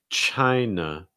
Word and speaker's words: China: sound at the end it's that na na it's not nar it's just a real soft sound very relaxed also that i sound so it's not try it's chai chai see if you can